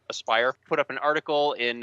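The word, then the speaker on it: Aspyr: Aspire, right? That's how you pronounce that, right? Not Yes. Asper, but Aspire.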